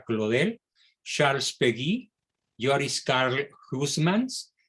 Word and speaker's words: Claudel: blog escribe león bla paul claudel se escribe claudel se pronuncia claude el charles péguy yoris karl